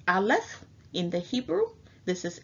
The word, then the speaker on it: aleph: the letter A which the pictographic character is pronounced aleph in the Hebrew this is ancient Hebrew uh